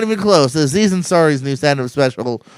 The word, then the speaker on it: Aziz Ansari: gonna discuss how do you say it as Anya's Ari Wow that's horribly not even close Aziz Ansari's new stand-up special right now and that's gonna